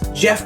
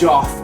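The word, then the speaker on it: Jeough: No, it's not pronounced Joff. It's Jeff Bowling.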